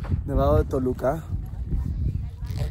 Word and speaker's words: Nevado de Toluca: Nevado de Toluca. Nevado de Toluca. That was with correct pronunciation.